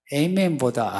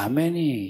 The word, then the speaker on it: 아멘: 에이멘보다 아멘이 히브리어예요. 히브리어가 그냥 아멘이에요. 그러니까 괜히 그 에이멘, 외국에 나가서는 뭐 다 에이멘 하면 하는데요. 아멘 하는 게 좋아요.